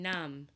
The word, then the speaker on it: numb: finally MB we see MB at the end of words so when MV are connected in words we don't hear the buh sound at all instead we just hear the MM sound like in numb or limb we don't hear but we just hear mmm numb limb thumb okay so let's